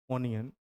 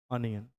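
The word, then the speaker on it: onion: जो शब्द लिखा गया ट इज नॉट प्रोना नॉट प्रोनंसिएशन इ ओनियन it's right pronunciation is अनियन ट इ प्रोनाउंस लाइक अनियन ट फर यहां ओ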